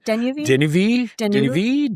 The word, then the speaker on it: Deneuve: So I always like default to like a French pronunciation where you just don't pronounce the last 3 letters of any word. Yeah. And then you pronounced it the French way. So then I would be like Deneuve.